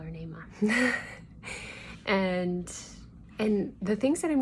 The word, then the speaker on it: Naamah: And I've heard people pronounce her name like Naamah or Naamah or something, but Naamah. But I call her Naamah.